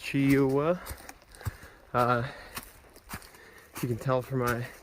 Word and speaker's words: Cheoah: Coming up on Cheoh Bald. I think that's how it's pronounced, Cheoah.